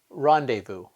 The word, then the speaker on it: rendezvous: silent which words contain the silence is to either look in dictionary at the phonetic spelling or just to remember them because there aren't that many here are a few examples Island debris rendezvous okay that's all we